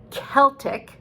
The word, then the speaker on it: Celtic: um and then there's celtic which is another confusing c word because it's spelled c-e-l-t-i-c but the the celtic people uh pronounced c like a k so we have